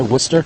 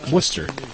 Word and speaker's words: Worcester: bars be almost throwing one in from downtown Worcester think that's how it's said anyway Worcester that's right Worcester and one but when we were renting our